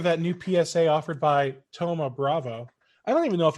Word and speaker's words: Thoma Bravo: Don asked if anyone's heard of that new PSA offered by Thoma Bravo. I don't even know if I'm pronouncing that correctly. I don't either. I thought it was Thomas Bravo. Yeah, there's no S.